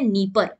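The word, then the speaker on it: Dnieper: river का नाम है निप्पल निप्पल दी साइलेंट है यहां पे ठीक है निप्पल इसको कहते हैं इस निपर के ऊपर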